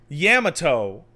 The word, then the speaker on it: Yamato: I'm like, "Yam, yamato.